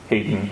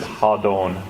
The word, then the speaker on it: Hadon: it will be called Hadon, King of Opar. It's a lot of people pronounce it Hayden or however people pronounce it. So Phil pronounced it Hadon. That was the Kokarsan language pronunciation.